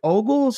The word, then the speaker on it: Ogles: Is it Representative Ogles?